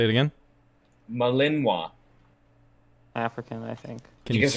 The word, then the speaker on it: Malinois: that as a win malinois say it again malinwa african i think you guys are not gonna guess this one can you spell it uh yeah sure um m a l